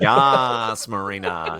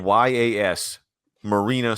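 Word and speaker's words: Yas Marina: Yas, Marina. Yes. Circuit. Yes. For those that don't know, it's spelled Y-A-S, Marina Circuit. Like, you can't read that and not go, Yas, Marina.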